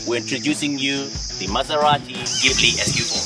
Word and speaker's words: Ghibli: one of the most affordable luxury car it's pronounced ghibli and it's referred to the african desert wind